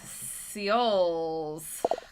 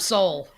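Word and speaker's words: Seoul: that's an interesting colorway oh how did you pronounce that i i butchered that didn't i pretty badly like me just straight up soul i was like seal seattle it's the capital of south korea exactly now let's just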